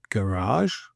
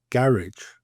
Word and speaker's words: garage: So we have words like in the UK garage versus garage.